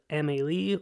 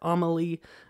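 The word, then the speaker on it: Amélie: and that is a french film called emily or amelie i've heard it pronounced a couple of different ways but my sister-in-law actually has this name and they pronounce it emily so i will say it that way this is a very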